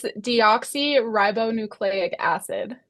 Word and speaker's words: deoxyribonucleic acid: It's deoxyribonucleic acid. Oh, yes. Yes, Never would and I have strung those syllables together though.